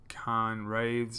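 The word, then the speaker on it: Cairn Wraiths: So looking to the left side we have some great sword infantry, 3 units of them, 3 units of Khan Wraiths, so scythe infantry, is that how you say it?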